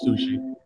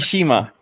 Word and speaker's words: Tsushima: Some Ghost of, I almost said Ghost of Sushi. Hey, bitch, fuck you. That's what I'm calling it. Ghost Sushi? Ghost of Tsushima. I know what the title is. I say it wrong all the time because of my Canadian accent.